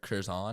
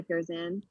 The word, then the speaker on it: Curzan: And you even have teammates now at Stanford who have swam in the Olympics, like Claire Curzon, I think how do you pronounce her name? Sorry. Yes, Claire Curzan.